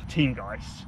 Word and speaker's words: Teamgeist: I don't know how how do you pronounce it by the way cuz I get I get rinsed for it it's team Guist teamgeist yeah okay it's really hard